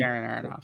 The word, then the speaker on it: Darren Aronofsky: I can never pronounce his name. Does anyone if Darren Aronofsky? Darren Aronofsky.